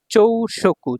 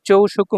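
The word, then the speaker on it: 朝食: তারপর দেখুন এইযে আসার কাঞ্জি এখানে চাইনিজ উচ্চারণ হল চৌ। আর এখানে হলো তাবে মাছের চাইনিজ উচ্চারণ হল শকু। তাহলে দুইটা মিলে হয়ে গেল চৌশকু। চৌশকু মানে হচ্ছে ব্রেকফাস্ট।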